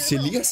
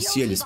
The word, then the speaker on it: Селес: А, ее зовут Селес, а не Селес, прикинь. Она только что сказала Селес, ударение на другую.